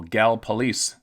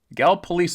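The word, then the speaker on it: Gallipolis: Oh, Gal police. Gal police is how you pronounce it, but it's spelled G A L L I P O L I S.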